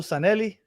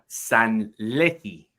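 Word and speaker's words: Sanllehí: We were talking about Raul how do you pronounce this guy's name? Raul Sanelli? Sanlehi.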